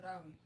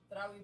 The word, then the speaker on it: Tarawih: the last time you went to Tarawih? What's it called? Tarawih. Yeah. Tarawih prayer.